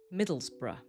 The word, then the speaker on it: Middlesbrough: But if we see this at the end of a place name, we know it needs to sound weak, like bruh or bruh.